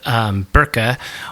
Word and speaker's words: Birka: So in the Viking era, there was a town called Birka, or we say it Birka in English because that's how it's phonetically spelled, but they call it Birka.